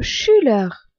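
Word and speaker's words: Schüler: mais dans le mot chulur écolier ou élève le U se dit u car il a un tréma on dit aussi un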